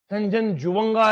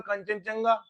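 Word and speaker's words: Kangchenjunga: अबू है, केटू है, कंचनजुंगा है। हम तो देसी में पढ़ते थे कंचनजंगा, ये कंचनजुंगा है, स्पेलिंग पढ़ा करो सही से।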